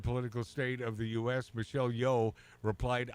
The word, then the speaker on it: Michelle Yeoh: Well, according to Mark, the correct pronunciation is Michelle Yeoh, Right.